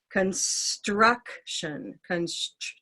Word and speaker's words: construction: I might put the S on the end of the first syllable. Construction. Instead of struction, it would be construction.